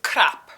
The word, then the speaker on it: krap: Number 4 is Krap, like literally crap, right? I mean, it's a little different sounding in Icelandic, except it isn't spelled with a C, it's spelled with a K.